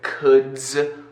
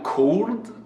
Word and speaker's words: could: Eu ouço o brasileiro falar uma pronúncia como cold, would, algo assim, tipo, bem carregado. Não, é bem simples. Por exemplo, a palavra madeira no inglês, que é W-O-O-D, se pronuncia wood.